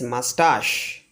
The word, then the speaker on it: moustache: So the pronunciation of the word MOUSTACHE is mustache, not moustache.